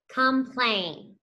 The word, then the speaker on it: complain: That O makes that lazy schwa sound because it is the not accented syllable.